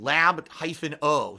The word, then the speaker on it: Labo: Black Mage C-Type says Labo is short for laboratory, thinking lab-o. So it is pronounced Labo, like laboratory, okay?